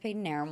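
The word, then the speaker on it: Padanaram: Peyton Arum. And yes, it is pronounced Peyton Arum.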